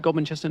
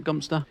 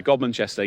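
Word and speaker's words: Godmanchester: You pronounce it gobinchester, not gumpster. Some people like pronounce it gumster, but uh gomanchester.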